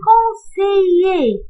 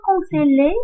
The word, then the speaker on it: conseiller: Je prononce pas les deux L ici. Je prononce E. Un conseiller. On ne dit pas un conseiller, mais un conseiller.